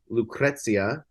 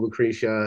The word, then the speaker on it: Lucrezia: with our friends in Lucrezia um we thought it was called Lucretia until we met them and they're like and I was like okay I just have to say it like Italian um and and we're